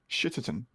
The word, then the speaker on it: Shitterton: I mean, I will say it's not in London, so you need to pronounce the T's. Shitterton.